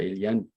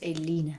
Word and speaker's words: Eline: Is a question by Ilian. Are you more aware than we are of your emotions? We pronounce her name as Eline, by the way. Oh, sorry, Eline. Eline, yes. Eline. I made it French.